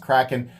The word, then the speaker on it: Kraken: I've reviewed knives that cost substantially more, and I can tell you, in this general competition zone, the Pyrotek Kraken, as I call it, I know it's pronounced Kraken, this is definitely one of the best and most unique at this price point, for sure.